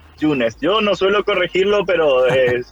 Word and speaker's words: Junes: En realidad, la mayoría me dice Yunes porque es con J que se escribe, pero está bien pronunciarlo Yunes.